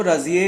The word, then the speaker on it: Razieh: And then enters a woman called राजिए, जो उनकी pronunciation में वो रोजिए बोलते हैं।